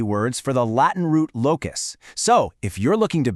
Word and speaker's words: locus: It's pronounced locus.